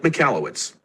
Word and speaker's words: Michalowicz: icon you hit this it's pronounced mike mikallowitz well usually click again